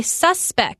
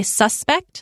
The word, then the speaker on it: suspect: them is a noun you kind of pronounce it a little different you say suspect like a suspect in a crime investigation and then you could say you suspect someone of doing something so I